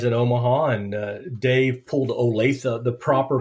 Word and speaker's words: Olathe: I met you guys in Omaha, and Dave pulled Olathe, the proper pronunciation of Olathe, right out of his hat, and that was awesome.